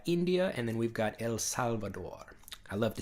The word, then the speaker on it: El Salvador: and then we've got El Salvador water I love to say that I love that that's Spanish pronunciation El Salvador I love that anyway